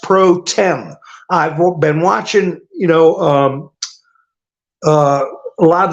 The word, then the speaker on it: pro tempore: who they are but they all try to pronounce it the way it's spelled. Pro tempore.